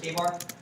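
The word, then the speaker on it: KA-BAR: We also make all K-bar knives. We also make all K-bar knives, and that's spelled K-A-B-A-R.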